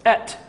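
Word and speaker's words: את: And if you were to pronounce the Aleph and Tav, it's Et.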